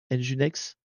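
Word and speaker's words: nginx: Faut prononcer NEX. Ouais. Enginex. Enginex engine quoi. Engine non engine. Engine comme un moteur quoi. En gros, c'est moteur X quoi pour Mais bref, on va pas y passer la nuit.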